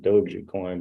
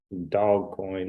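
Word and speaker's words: Dogecoin: that dog coin came out I know it's pronounced doji coin but dog coin is a better term in my opinion the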